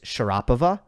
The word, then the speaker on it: Sharapova: this I know that for Russian names English speakers tend to put the emphasis on the wrong syllable I was speaking to a Russian friend they were telling me that uh Sharapova is Sharapova Medvedev is Medvedev but it's just not like that uh English speakers will go